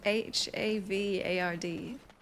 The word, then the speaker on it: Havard: it's pronounced it's no it's h a v a r d that's why it's Havard ma'am the guy's going